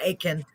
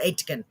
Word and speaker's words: Aitken: two videos featuring jim aitken it says a-i-t-k-e-n but it's not the t is silent aitken not atkin like i've been saying it